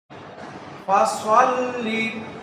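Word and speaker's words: فَصَلِّ: পাও কাউ পরে আসো ফাসাল্লি ফাসাল্লি এখানে আমাদের যেটা ভুল হয় ফাসাল্লি ফাসাল্লি একটা হচ্ছে সিন আরেকটা সদ সিন যখন হবে সিন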